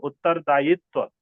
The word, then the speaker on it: उत्तरदायित्व: रखना है ठीक है ई नहीं होगा य उत्तरदायित्व य का उच्चारण होगा ठीक उत्तरदाई उत्तरोत्तर उत्तरोत्तर उत्तरोत्तर